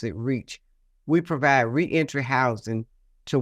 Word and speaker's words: REACH: Foundation and we use acronyms r e and pronounce it reach we provide re-entry housing to women coming out